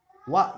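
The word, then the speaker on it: は: huruf H hiragana ini kalau dalam hiragana kan ini dibacanya hak yang merangsang tapi kalau huruf ini berfungsi sebagai partikel dia dibacanya Wak minna-san bukan hak lagi Jadi jika huruf ini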